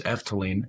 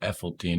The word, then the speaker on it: Efteling: So, it's Efteline, not Effine or whatever monstrosity I was saying.